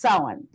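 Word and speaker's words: Samhain: pronounced sa ma che i n but it's pronounced so on and it was a celebration where everyone wore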